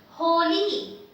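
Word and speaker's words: होली: This is H with O matra, Ho, L with E matra, Li, Holi, Holi.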